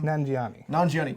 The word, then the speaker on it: Nanjiani: Nanjiani.